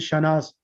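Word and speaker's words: Shahnaz: Shanaz, they pronounce it Shanaz. There is no, just like an Amanatun, Fatimatu. Your name is fine. It will be Shanaz. So be Shanaz. Okay, you know, yesterday I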